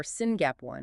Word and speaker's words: SYNGAP1: this Gene goes wrong s y gap1 or singap one as it's pronounced is a gene that provides instructions for